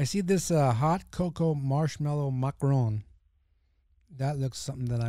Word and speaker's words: macaron: Anyway, he goes macaron. That's how you say it.